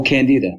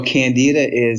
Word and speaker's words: Candida: Oh, Candida.